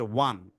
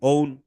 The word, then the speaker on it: one: যেমন একটা শব্দ আছে ওয়ান, তাই না? ওয়ান, ONE, এটা ওয়ান কেন হইলো স্যার? এটা তো ওয়ান হওয়ার কথা না, কি হওয়ার কথা? এর লাস্টে ই আছে, সাইলেন্ট ই, ওকে বাদ ই বাদ গেছে, এখন ও আছে, তাহলে ও এর সাউন্ডটা কি? ও এর সাউন্ড তো হওয়ার কথা ও, তাহলে ও আর এন হওয়ার কথা কি? ওন।